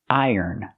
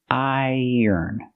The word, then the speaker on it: iron: Pronunciation, iron, iron. Make the long I sound plus the y sound like yellow and yesterday. Iron. Then the sound like burger. Link the sounds.